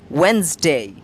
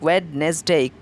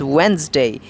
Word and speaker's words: Wednesday: They like to say wed-nes-day. They make it trisyllabic, wed-nes-day. But come on, it's not about your wedding. It's not Wednesday. It's Wednesday. Wednesday. It is D silent word. The D after the E is silent and makes it Wednesday. It's disyllabic.